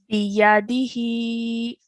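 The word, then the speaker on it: بِيَدِهِ: Biyadihi. Biyadihi. Excellent. Well done. So the first 3 letters we're only pronouncing for 1 count, and then the ha is pronounced for how many counts? 2.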